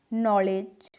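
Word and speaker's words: knowledge: अब के वाली जो स्पेलिंग है यानी नॉलेज, आप कहेंगे ये तो के से स्टार्ट हो रही है, इसमें भी जो के है वो साइलेंट है।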